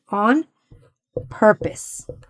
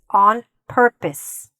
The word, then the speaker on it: on purpose: The correct way to pronounce this is on purpose. Purpose. Okay? Don't worry about the P-O-S-E here. Don't try to pronounce that the way you see it.